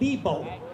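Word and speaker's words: Loebau: We played some picnics over in a little place called Lebo. L-O-E-B-A-U, I think it's spelled, or something like that.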